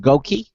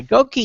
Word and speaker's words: GOQii: again um I believe the company's pronounced gouki uh that's gki all right we got validation yeah gouki is dedicated to enabling